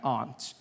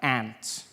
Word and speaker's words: aunt: For instance, I pronounce the opposites of uncle as aunt. I say my aunt. out here. You say my aunt, which to me is an insect, which made me look